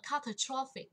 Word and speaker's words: catastrophic: Trọng âm và âm tiết thứ hai. Nhưng mà catastrophic thì vào thứ ba.